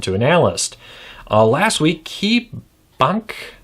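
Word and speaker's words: KeyBanc: Last week, KeyBank, B-A-N-C, Bank, I'm assuming that you just pronounce it like bank, KeyBank.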